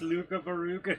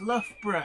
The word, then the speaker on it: Loughborough: london trying to reach luka varuga junction oh luga beruga that's loughborough to the rest of us luka faruga i love